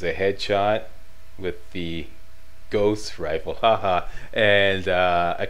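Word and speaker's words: Gauss: why I pronounce it ghost rifles because like I live here in Montreal okay and uh the French way to pronounce the Au sound is O as in Cloe or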